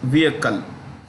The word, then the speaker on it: vehicle: electric vehicle battery maker when you pronounce the word vehicle the H is silent so it becomes vehicle okay contemporary amperex technology